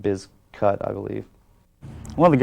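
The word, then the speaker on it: Bizkut: them that much uh originally it was always pronounced limp biscuit i believe but originally the name was spelled uh b-i-z-k-u-t the biscuit was but they changed it because they wanted people pronouncing it biz cut i believe one of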